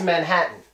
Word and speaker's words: Manhattan: think you know whoa guess what it gets the Putin T its Manhattan Manhattan nobody says Manhattan